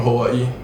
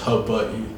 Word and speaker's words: Hawaii: it's actually like pronounced hub butt okay like the w is a v there's all kind of